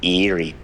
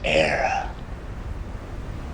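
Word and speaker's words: Éire: The land of your fathers isn't Erie, boyo. It's Era.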